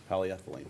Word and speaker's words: polyethylene: for the public works high density polyurethane duct polyethylene polyethylene I've been saying it wrong my whole